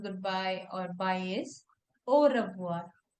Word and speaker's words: au revoir: And whenever we have the combination of A and U letter together in French, it makes O sound.